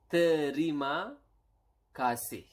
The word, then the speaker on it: terima kasih: It is terima kasih.